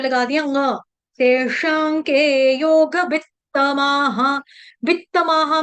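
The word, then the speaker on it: तेषां: बोलेंगे तेशाके योग वित्तमा हमारे मुंह में तेशाम बैठा हुआ है लेकिन तेशाम नहीं है श के ऊपर जो अनुस्वार यानी अनुस्वार बोलते हैं बिंदी को जो अनुस्वार है उसका उच्चारण अनुनासिक म की तरह किया जाएगा। क्यों? क्यों किया जाएगा? क्योंकि आगे आपका आ रहा है क से कबूतर इसलिए कभी करके यहां पे लगा दिया।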